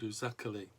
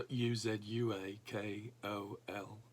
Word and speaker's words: Uzuakoli: It's one of several projects we visited that the church runs in the area of Nigeria called Uzakoli. That's the Uzuakoli. I've been pronouncing it wrong for a long time.